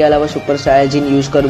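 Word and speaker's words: スーパーサイヤ人: बता दूं कि यार सुपर सैयन को जैपनीज लैंग्वेज में सुपर सायाजिन कहा जाता है।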